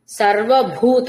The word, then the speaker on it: సర్వభూత: సర్వభూత మహాప్రాణ భకారం.